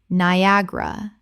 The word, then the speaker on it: Niagara: Niagara. 3 syllables in natural speech with the stress on the second.